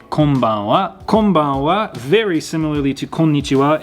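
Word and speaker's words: こんばんは: Now, something to keep in mind is that konnichiwa and konbanwa both have a wa sound at the end, but you don't really pronounce the W really heavily in this. Konnichiwa, konbanwa, almost like you're barely trying to say a W.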